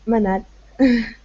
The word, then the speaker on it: Manel: pronouncing your name correctly is it Manel or how do you how do you say your name uh just Manel Manel man yes uh okay